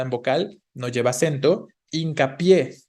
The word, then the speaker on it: hincapié: Hincapié, es una palabra aguda, hincapié, ¿no? Aguda terminada en vocal, entonces lleva tilde, compuesta por hincar y por pie, ¿no?